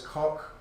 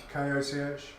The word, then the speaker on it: Koch: One of the scientists in it was a German scientist called, I don't know how to say this, Koch, K-O-C-H.